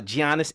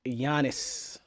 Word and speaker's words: Giannis: are arguing about are Giannis Antetokounmpo, check me out, and James Harden. The G is silent.